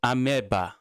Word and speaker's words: amoeba: It's pronounced ameba.